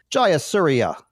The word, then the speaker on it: Jayasuriya: I'm gonna say his name right this time jauria is that right perfect good I'm perfect um